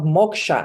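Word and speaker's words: moksha: my trainings I bring in the concept of Moka and everybody's like what sorry I said Moka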